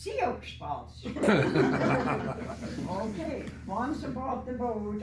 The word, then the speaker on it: Sioux Falls: So I pronounced it Sioux Falls. Oh no, said the travel agent. That is pronounced Sioux Falls.